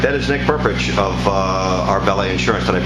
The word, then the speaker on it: Nick Prpich: All right, that is Nick Prpich of Arbella Insurance. Did I pronounce it right? Yes, Nick Prpich.